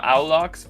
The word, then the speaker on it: Aulox: I was going with Aulox, but what is the actual pronunciation? Yeah, it's good. Outlook is good.